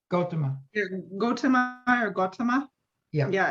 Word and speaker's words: Gautama: and then Kathy, how do you pronounce those? Gautama? What do you say? Gautama.